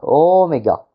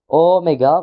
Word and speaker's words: oméga: Puis la lettre oméga. Oméga. Bon là une sûrement une des lettres les plus connues en grec ancien. Euh c'est un O comme le Omicron, sauf qu'il est long.